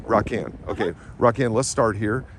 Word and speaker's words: Raquan: pronounced your name? It's Raquan. Raquan.